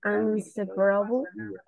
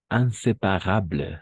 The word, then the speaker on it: inséparable: Sauf inséparable, d'accord? Pas inséparable, non. Inséparable. Como en castellano también decimos inseparables, ¿no?